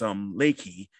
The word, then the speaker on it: Reiki: I do fitness too, and also you do something called Reiki or in Japanese pronunciation, it's Reiki, which is a form of energy healing.